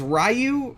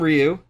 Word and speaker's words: Ryu: note throughout this movie they pronounce it as rayu I don't want to do that that sounds that's bad I hate it uh I'm calling him Ryu they they do call